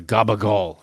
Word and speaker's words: capicola: guess so like uh gabal is capicola but you pronounce the C's as G's because it's just it flows easier for some reason it's